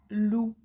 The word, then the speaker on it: loup: Le loup. Ici, on entend bien le son OU, donc on va le mettre en rouge. Et la lettre muette, le P, est en grise, car elle ne se prononce pas.